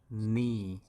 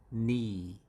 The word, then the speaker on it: knee: long e and that's knee knee and it's another interesting feature of english pronunciation whenever you see k and n together k is always silenced it's okay silence as